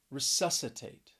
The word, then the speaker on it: resuscitate: that second syllable obscene then we have resuscitate resuscitate stress is on that second syllable and this is a four syllable word resuscitate and if you